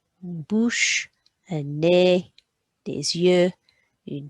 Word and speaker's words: bouche: We've got an OU sound and a CH sound with a silent E, une bouche, une bouche.